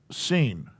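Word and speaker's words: שׂין: on that other side it's a sin s-i-n but it's really pronounced seen and it is just a straight s that's it in those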